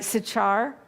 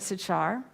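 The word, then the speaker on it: Sychar: the city of and i may not pronounce this white right sachar that's how i've always known it sachar that word means deeply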